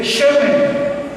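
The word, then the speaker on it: שמן: mujer utiliza en hebreo se escribe shemen shen con acento en la primera sh en hebreo Y sabes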